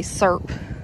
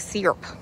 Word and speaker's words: syrup: up foreign and that's another word that people pronounce differently we say serp but some people pronounce it syrup so I say serp yeah we'd be watching